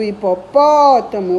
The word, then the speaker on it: hipopótamo: destacar a sílaba tônica no caso do hipopótamo é o pó com acento e a classificação da